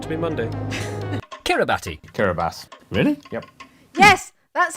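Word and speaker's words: Kiribati: not to be Monday kurabati kurabas really yep for many dec because of like old letters and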